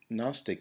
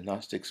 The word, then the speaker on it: Gnostic: anti-agnostic in orientation so Gnostic is this is the word here it's g-n-o-s-t-i-c and um the g is silent now the the gnostics